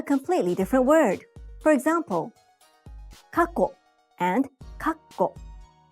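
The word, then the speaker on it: 過去: For example, kako and kakko. Kako means past. It doesn't have a small tsu, and so it's pronounced in 2 syllables.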